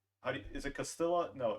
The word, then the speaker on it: Castilla: seasons like is it Castilla no it's Castilla the two L's are pronounced as a y okay just to clarify